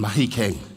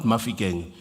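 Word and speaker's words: Mahikeng: It's the monotlas agiri from Marik side and then here between mahikang not mafi kang you know for the white people you say mafi kang it's mahikang agiri barong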